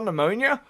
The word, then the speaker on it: pneumonia: If you're trying to spell pneumonia, fun fact, it's spelled with a P.